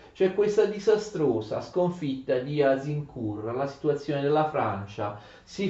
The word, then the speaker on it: Agincourt: d'accordo us in cui si scrive agincourt si legge us in cura la battaglia avviata in